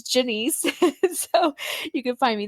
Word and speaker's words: Genese: is super super unique it's spelled with the G it sounds kind of like a J sounds like Denise but it's Jenny so you can find